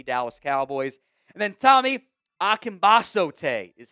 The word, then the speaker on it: Akingbesote: And then Tommy Akimbas is how you pronounce that one.